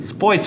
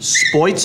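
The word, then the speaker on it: Spoetzl: right how do you say this brewery name sports all the original Brewers last name sports avoid salt german german okay well we gotta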